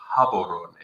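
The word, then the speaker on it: Gaborone: __ ] I mean kabon is right across the border or as they pronounce it habon um so there's a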